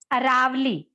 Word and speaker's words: Aravali: The correct pronunciation of this word is Aravali.